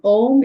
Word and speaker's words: Om: Um Om is a very powerful mantra. It's a very very powerful mantra and it is uh pronounced as O and M or it could be